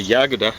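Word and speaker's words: Yagoda: pictures i've seen the yaguda i think the accents on the first syllable with nikita khrushchev who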